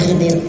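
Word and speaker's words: Khidr: Khadir atau Nabi Khidir kita menyebutnya Nabi Khidir kalau bacanya Khadir sebenarnya.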